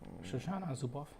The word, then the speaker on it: Shoshana Zuboff: Surveillance Capitalism by Shoshana Zuboff. Exactly, that's how you pronounce it.